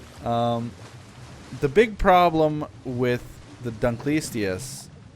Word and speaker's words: Dunkleosteus: And I know that it's technically like Dunkleosteus. Like, that's it. But when I say it quickly, it just comes out as Dunkleistius.